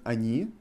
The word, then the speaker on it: они: Can you hear my pronunciation on она and они? I pronounce first O as A. Она, они. Because O is not emphasized.